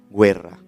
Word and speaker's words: Guerra: mujer se llama Elena guerra guerra se escribe en italiano se pronuncia Guerra y esta mujer fue